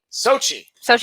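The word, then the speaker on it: Xochitl: See, we're looking up America Chavez, and oh yeah, see, you've got the pronunciation. I'll let you take it. Your eyes are better than mine. Sochi okay.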